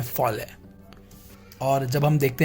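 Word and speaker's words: poêlé: इसका जो प्रोनाउंसिएशन है वो फॉले होता है, ठीक है?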